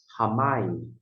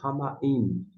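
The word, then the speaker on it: hamayim: vai fazer a transliteração, se você colocar o H como se fosse o H na palavra house, H, A, M, A, Y, I, M. Perfeito. Você vai pronunciar Hamaim, ou se desejar, a pronúncia é sua, Hamaim.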